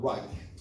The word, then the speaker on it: Right: 발음도 사실 정확한 라이트가 맞거든요. Right. 라이트가 T시고. 네. Right 하면 또 R이니까.